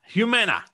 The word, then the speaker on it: Humana: His 20-year professional career, including leadership positions at McDonald's, Discover, and I'll have to ask you to pronounce this because I don't want to get it wrong, Dan. Humana.